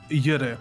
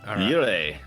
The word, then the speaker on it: Jurre: Jurre. Jurre.